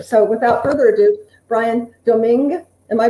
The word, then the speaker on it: Domingue: So without further ado, Brian Domingue, am I pronouncing it, or is it Domingue? Actually, that's more perfect than most. Yes, because even in my family, we've dropped the G at the end, but actually you are supposed to pronounce the G.